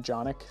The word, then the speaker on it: Jonik: I am Jonik. That's how you say my name. It rhymes with Sonic. It's a hard J.